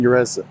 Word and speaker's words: Jerez: e9x m3 is named after the racetrack in urez spain and it is black but up close